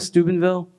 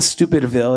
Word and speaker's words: Steubenville: And so it was a moment where, has anyone heard of Steubenville? Not Stupidville. Everyone thinks it's Stupidville. No, Steuben.